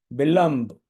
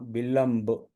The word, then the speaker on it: विलंब: विलंब, ला पर बिंदी है, अब इसका क्या अनुस्वार का क्या उच्चारण होगा? ये ब के आधार पर, ब क्या है? प प ब भ माँ, और माँ का आधा, आधा माँ, विलंब। विलंबू नहीं है, छोटा हुआ है, ध्यान रखें।